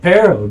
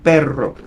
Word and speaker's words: perro: Yeah, there is pero and then perro.